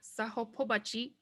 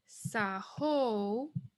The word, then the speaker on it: sahopobachi: So now when we pronounce it, it's not sahopobachi, it's sahopobachi. Sahopobachi.